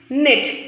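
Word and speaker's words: knit: Listen the pronunciation, नेट. के is also silent here.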